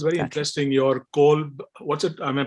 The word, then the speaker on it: Kolb: Your Kolb, what's it? Am I pronouncing it right? Kolb Learning Style Inventory? Say it again. Kolb Learning Style Inventory that you use, KOLB.